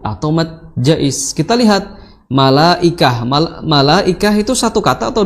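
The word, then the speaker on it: ملائكة: Ya, jadi illa malaikah, ya, malaikah. Ya, maka di sini mad wajib apapun toriknya, ya, di Hafs Asim, maka dibacanya harus 4 atau 5, ya.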